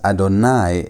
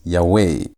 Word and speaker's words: Adonai: here the y w you should pronounce this as adonai and not as ywe.